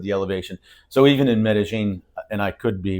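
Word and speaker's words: Medellín: a fond love of M Jane haven't you I can never say that right medine is is the local pronunciation yeah it's the it's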